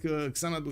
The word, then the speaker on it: Xanadu: Well, it looks like Xanadu is gonna be all alone, and I think it's actually pronounced Shanadu if I'm not mistaken, but anyway, it is what it is.